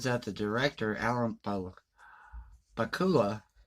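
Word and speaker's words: Pakula: the director Allen Poe Bakula PA kul a I believe that's how you pronounce his last name the director uses special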